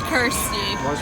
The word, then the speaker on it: Kirsty: It's Kirsty. It rhymes with thirsty.